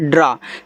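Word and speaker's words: draw: इसको पढ़ते हैं ड्रा। देखो ए डब्ल्यू को आप अगर कहीं किसी के साथ ए डब्ल्यू लगा हुआ है तो इसको इस तरीके से आप आ पढ़िएगा।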